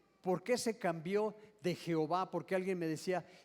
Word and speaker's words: Jehová: Ellos lo que hicieron, entre cada una de esas letras pusieron algo. ¿Qué fue lo que pusieron? A, E, I, O, o las letras que se requieran, y entonces se puede pronunciar como Jehová. Metieron una E y una ¿qué? O.